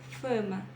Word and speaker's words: fama: não vou dizer fama Fama eu vou dizer fama fama igual o fa de Fátima tá eu não vou dizer